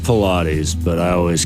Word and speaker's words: Pilates: It's pronounced Pilates, but I always called it pilots or whatever.